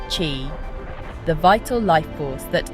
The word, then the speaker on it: qi: We begin with the concept of qi, pronounced qi, the vital life force that animates all living beings.